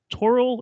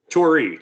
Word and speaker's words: Torii: it as well and he's the co-founder of toro industries is that did i pronounce that right tori t-o-r-i-i oh okay even glasses on i still